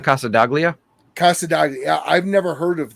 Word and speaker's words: Casa Daglia: de Gill Casa degili c-a-s-a-d-a-g-l-i oh Casa de uh you sure it's not Casa daglia Casa I've never heard